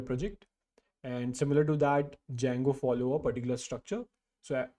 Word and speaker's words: Django: Uh there's a D before it. Okay. So that's a Django but it's it's pronounced at as Django.